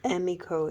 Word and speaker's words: Emiko: it's called chemical amiko Emmy emiko is the correct pronunciation e-m-i-ko she gave me